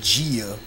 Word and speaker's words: Gia: I think her name her name name is Gia um kind of rhymes with Mia from Samurai um she's Caucasian I